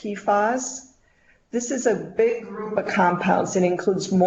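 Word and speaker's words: PFAS: websites so switching gears a little bit about pee foz so these are purple floral alkyl substances generally pronounced pas this is a big compound that includes more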